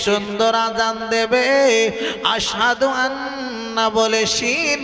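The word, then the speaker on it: أشهد: scene আর scene আর আযানে যে উচ্চারণটা হবে আযানে যেটা বলা হবে সেটার ভিতরে এই সিনটাই হবে আশহাদু আন্না মুহাম্মাদুর রাসুলুল্লাহ এটা উচ্চারণ হবে কিন্তু হুজুর এটা উচ্চারণ করতে পারতেন না এত আঘাত করে দিয়েছিল জীবেন বলতেন আসহাদু বলতেন এতে করে কিছু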